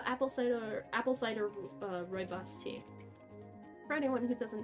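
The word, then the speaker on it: rooibos: doesn't know Roy boss which I've looked up how to pronounce it which is why I say it like that even though it looks like it should be said ruy Bose uh is a a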